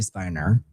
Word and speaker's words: Spiner: I think people pronounce it Spinner, but I think it's actually Spiner. But it looks like Spinner.